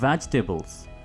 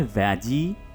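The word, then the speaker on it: vegetables: द वेजिटेबल्स, सब्जियों के English वेजिटेबल्स। इसको आपने वेजी नहीं कहना, यहां पर डबल ई प्रोनाउंस मत कीजिए।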